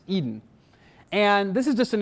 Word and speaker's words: edn: is the extensible data notation edn pronounced Eden and this is just